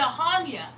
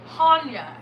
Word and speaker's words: Chania: But I walked into Hanya. Hanya. It's spelled Chania.